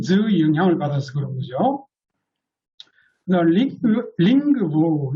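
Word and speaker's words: lingvo: 링그부 이런 것도 니은요, 린부 그러지 않아요. 링그부입니다. 그 니은, 노가 으로 바뀌어요. 링그부. 이것도 위에 있는 그 영향으로 그렇게 됩니다.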